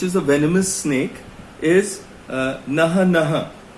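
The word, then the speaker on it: Naja naja: The common cobra, which is a venomous snake, is Naha Naha. It's written as Najanaj. So it's pronounced Naha Naha.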